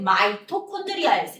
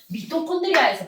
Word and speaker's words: 마이토콘드리아: MI라고 적는데 옛날에는 MI를 미라고 읽었는데 요즘은 MI를 들어가는 건 마이, RI가 들어가는 걸 라이, 미가 아니고 미라고 읽었는데 마이라고 읽고 얘는 미라고 읽었는데 라이라고 읽어주는 걸로 바뀌었어요.